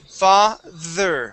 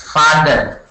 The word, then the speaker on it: father: Make sure that your tongue is between your teeth. You are saying father, pronouncing a D sound. Okay, this is father. All right. So let's check this out, okay? All right. So when I pronounce this, my tongue goes between my teeth. Father. Father. Good. One more time. Father. Okay, all right. So you're bouncing between pronouncing the D and the TH.